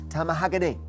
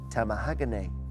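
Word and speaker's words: tamahagane: Tamahagany is a fine type of which product made according to Japanese tradition?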